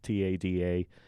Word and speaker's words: TADA: And basically what I was pointed to by some of the commissioners is something called TADA, T-A-D-A. You have to say it like that.